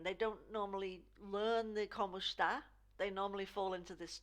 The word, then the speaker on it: Como está: So you see this E, here, sounds more like an I. Como está?